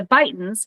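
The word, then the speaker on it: Beighton: more than one person the bidens it's fighting like take a bite out of crack it rhymes with Brighton as in the old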